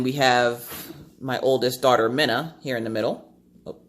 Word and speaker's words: Mina: And that's pronounced Minna. She hates it when you mispronounce it because she gets Mina a lot because it's M-I-N-A. So she gets Mina. And she's like, no, Mom, it's Minna.